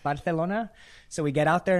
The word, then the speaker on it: Barcelona: enough Billy didn't know that it was actually pronounced Barcelona so we get out there and people are